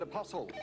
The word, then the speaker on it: apostle: Yes, which consonant is silent in the word apostle? Simon? T. T.